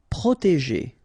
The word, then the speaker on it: protéger: Protéger. Okay, so accent aigu et proté, and then remember G and ER at the end, so G. Protéger. Enfermer.